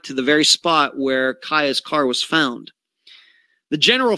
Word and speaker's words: Cieha: is the disappearance of kaia taylor and you spell her first name c-i-e-h-a yes that is pronounced kaya she disappeared february 6th